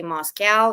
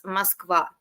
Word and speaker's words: Moskva: My pet peeve is when people say Moscow, even though I know in German that's how it's pronounced, but actually like it's Moskva.